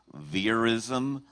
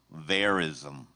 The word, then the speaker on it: verism: Your word has 2 correct pronunciations: verism, verism.